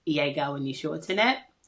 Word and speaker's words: Yéga: So it's like yay and gas. Why literally YAY hyphen GAH.